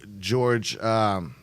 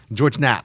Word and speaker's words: George Knapp: And then in the 80s, this certain gentleman named Bob Lazier went to George Cap. I'm saying it wrong, but George Knapp. Thank you, Yes. George Knapp.